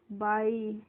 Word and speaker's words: buy: Next है friends BUY, तो BUY को हम पढ़ते हैं बाई, और बाई की हिंदी मीनिंग क्या होती है?